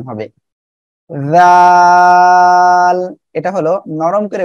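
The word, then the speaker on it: د: দাল। সবাই আমার সাথে সাথে পড়বেন, দাল। সবাই বলেন, দেখেন এ অক্ষরে তিন আলিফ টেনে পড়তে হবে, জিব্বার আগা সামনের উপরে দুই দাঁতের গোড়ার সঙ্গে লাগিয়ে উচ্চারণ হবে, দাল। সবাই একসাথে বলেন, দাল।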